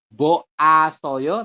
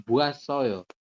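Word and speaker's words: 봐서요: ini anda perhati kan vokal o digabung ke sini nah ini kan ada vokal o dengan vokal A itu kan vokal rangkap dibacanya adalah wa ya buasoyo seperti itu bukan boasoyo tapi buasoyo penyebutannya begitu kalau yang apa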